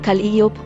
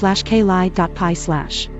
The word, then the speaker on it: Calliope: According to the section labeled Pronunciation on Wikipedia, the musical instrument is pronounced /cal-ee-ope/ and the Greek muse is /cal-ee-pi/.